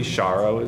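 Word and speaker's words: sharrows: do notice on it says cheros am I pronouncing that correctly shos so shared shared Lane markings and people call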